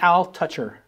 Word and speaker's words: Altucher: is J aler and it's pronounced Al toucher just so people know